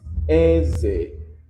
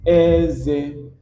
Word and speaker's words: Eze: Um, the difference there is the tone in which you are pronouncing it is the same Eze. And in English, we see that EZE. But in Igbo alphabet, we call it AZA.